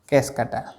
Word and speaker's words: Cuscuta: तीसरा है कैसकटा, इसकी स्पेलिंग सही कर लेंगे, CUSCUTA, कैसकटा।